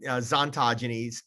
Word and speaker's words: Xontogeny: focus our energy and why we started zontogenes pronounced with a z we started that to